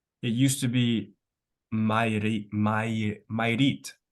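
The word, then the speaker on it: Mayrit: means like that so it has two syllables so my which means water and you read which is like a place for it okay yeah May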